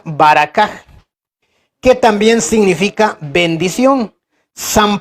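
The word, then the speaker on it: ברכה: Esta palabra tiene también su origen en el lenguaje antiguo que es el hebreo, se pronuncia baracaj, que también significa bendición.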